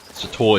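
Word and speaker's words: SWTOR: Sator is spelled S-W-T-O-R for Star Wars The Old Republic, because that's what the MMO is called.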